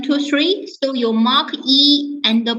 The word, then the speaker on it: 一: Then the next one is about the word "e" and "bu." So these two words, how do you mark the tone for them? Depend by the word put after it.